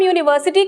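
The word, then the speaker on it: university: जब हम यूनिवर्सिटी कहते हैं तो जो पहला साउंड आता है वो य का आता है।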